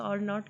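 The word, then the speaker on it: R₀: आर नॉट ऐसे इसको denote किया जाता है, प्रोनाउंस आर नॉट किया जाता है।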